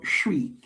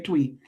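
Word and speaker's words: Twi: In Ghana amongst the Aan people the language is called shri. It's spelled twwi but like shwin bicycle it's pronounced shw. So whenever you see twwi I know you want to say tweet but it's the name of the language the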